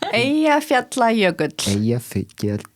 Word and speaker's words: Eyjafjallajökull: Eyjafjallajökull. Yogurt? Eyjafjallajökull. It's a double L.